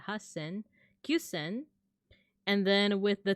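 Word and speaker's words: 八千: Yonsen, gosen, rokusen, nanasen, hasen, not hachisen, but hasen, kyusen.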